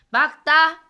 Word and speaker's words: 맑다: 리을로 발음해주면 됩니다. 자, 예시를 한번 볼게요. 날씨가 맑다 보세요. 맑다.